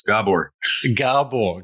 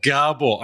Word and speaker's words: Gabor: And I'll be even more greater pleasure if you pronounce my name right. It's Gabor. Gabor.